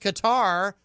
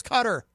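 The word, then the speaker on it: Qatar: about dark you know it used to be pronounced guitar and for some reason now everyone says cutter right all that kind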